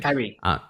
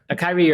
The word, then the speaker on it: Kyrie: And Kyle Irving, how do you pronounce that in the US? I get the Australian. Kyrie. What's that, sorry? Kyrie Irving. Yeah, Kyrie that's it.